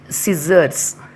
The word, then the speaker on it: scissors: Next one is scissors. Next, ascent. Next, miscellaneous. Next, fascinate. So the rule 1, C is not pronounced after the letter S and also in the combination of SC.